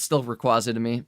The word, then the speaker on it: Rayquaza: It's still Rayquaza to me. Rayquaza. Jayquaza. The reason I remember it now is I'm like, well, just remember Jay Quaza and then it it works, right?